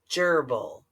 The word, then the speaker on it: gerbil: it's a gerbil a gerbil the soft G because of the G and the e a gerbil one gerbil